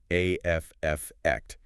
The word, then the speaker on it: affect: In psychology, effect, and it's often pronounced with the stress on the first syllable, afct is the observable emotional response of a person, their facial expression, their demeanor.